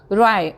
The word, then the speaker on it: wry: राय, WRY, राय, W के बाद जब भी R आता है तो ज़्यादातर केसेस में वो W साइलेंट रहता है.